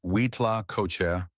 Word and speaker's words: huitlacoche: One particularly interesting truffle of the soil from the Mesoamerican context, though not a fungus, but a parasitic growth, is Huitlacocha, pronounced Huitlacocha or corn smut.